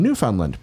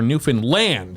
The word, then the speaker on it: Newfoundland: This from Derek from Newfoundland.